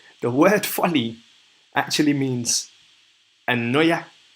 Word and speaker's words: anoia: The word folly actually means anoia. Anoia. If I'm saying that correctly, but A-N-O-I-A or A-N-O-Y-A-H.